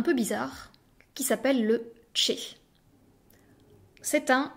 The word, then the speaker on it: ch: bizarre qui s'appelle le Che c'est un C accompagné d'un h qu'il ne faut absolument pas séparer c'est une lettre entière le comme son nom l'indique se prononce comme dans check et c'est tout ce